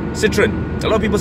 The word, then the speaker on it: Citroën: you go the so Peugeot, you know, Peugeot, Citroën, yes, that's how you say it, Citroën. You see how sexy it is when you say it in the correct pronunciation, yeah.